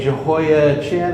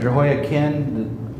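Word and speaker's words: Jehoiachin: Jehoa Chin or Jehoa Kin depending on how you want to pronounce the ch there.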